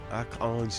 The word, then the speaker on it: Archange: President Tuadera, Akang, if you want to know how to pronounce his first name, and it's actually French for Archangel, Akang Toadera.